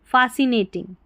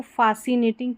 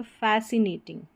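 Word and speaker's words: fascinating: आई एन जी टिंग, फासिनेटिंग, तो इसको फासिनेटिंग की जगह फैसिनेटिंग, फैसिनेटिंग ऐसे करके इसको पढ़ देंगे, फैसिनेटिंग।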